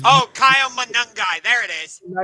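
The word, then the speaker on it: Monangai: Uh Monogamy, I forget to say his name. Oh, Kyle Manungai.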